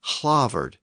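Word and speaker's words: hlaford: So words like loud and lord and lady were also once pronounced with a slight breath before the L. Loud was hlud, H-L-U-D, and lord was hlavard, H-L-A-F-O-R-D, and lady was hlafti, again spelled with an initial H-L.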